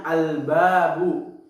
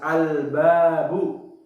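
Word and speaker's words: البابُ: Yaitu contohnya al-babu. Huruf alif dan lamnya bertemu dengan huruf ba, maka alif lamnya ini dibaca jelas, al-babu.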